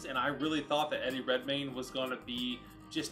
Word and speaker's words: Eddie Redmayne: this like his commander did i pronounce his name wrong at the beginning of this yeah it's eddie redmayne i mean there's some other movies that of